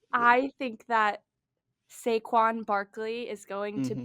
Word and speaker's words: Saquon: Saquon. Saquon. Mm-hmm. Okay. It's not like I completely butchered it. No, you didn't. I just put the emphasis I emphasized it incorrectly.